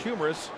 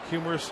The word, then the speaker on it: humerus: the end of the humerus bone, which is pronounced humerus. Humerus also means funny, hence the name funny bone.